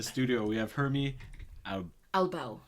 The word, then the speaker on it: Albao: the in the studio we have hermy Al alau alow yes that's what I was going to say I've never I've never butchered anyone's name to date and I had